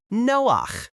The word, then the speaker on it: Noach: Say the name with a hard c sound at the end. Noak. Have you ever helped your grown-up start something new?